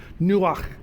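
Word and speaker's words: נוח: If you got something in the back of your throat, you can pronounce it great. Nuach.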